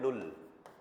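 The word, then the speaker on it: null: Zero को हमें बोलना है नुल। क्या बोलेंगे? नुल वन के लिए हो जाएगा आइंस।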